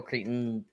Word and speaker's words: Crichton: Did you ever read Michael Crichton?